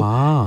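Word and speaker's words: 槐花: 괴화의 중국 발음이 화이화이고요. 화이화.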